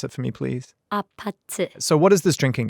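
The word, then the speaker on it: APT.: Can you pronounce it for me, please? Apate.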